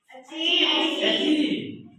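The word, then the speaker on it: achieve: दूसरा एग्जांपल बताइए वाली चीज, जैसे अचीव, अचीव, तो यहाँ पे ची का उच्चारण है ची, ना कि सी।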